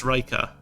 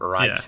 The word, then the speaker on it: Raika: It's Raika. Raika, not Raicha. Yeah. I mean, you can say Raicha if it's easier. Like, there are literally like the 4 pronunciations of like Reika, Raicha, Raika, and Raicha. All of them are fine.